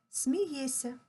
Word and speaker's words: смієшся: дивиться а вимовляємо дивиться пишемо смієшся а вимовляємо смієся пишемо милуєшся а вимовляємо